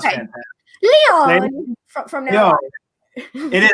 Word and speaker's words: Leone: Leone from now on. It is actually, everybody calls me Leone, but it's Leone. But either one is fine.